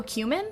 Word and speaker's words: cumin: about the spice but oh cumin like it's like human um i think it's